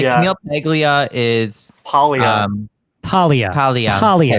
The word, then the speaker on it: Camille Paglia: Camille Paglia. Yeah, we all love That her. was beautiful. Yeah. Thank you. Beautiful pronunciation.